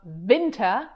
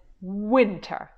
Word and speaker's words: winter: Interestingly, the German W sound like an English V, like in very or never. But if you want to say an American W, it's more like, and I don't know how to describe it better, but you have to shape your lips like if you would like to kiss someone. So I guess it's not winter, but it's winter, isn't it?